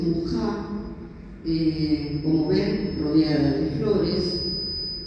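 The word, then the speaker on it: Mucha: Bueno, esta es ya una imagen más sensual de Muchá, se escribe Muchá, en checo dice Mujá, como ven, rodeada de flores, muy exótica.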